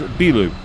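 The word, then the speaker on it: ビル: because to say a building, the word is bilu, so bilu, B-I-R-U is how it's spelled in English, but it's pronounced bilu.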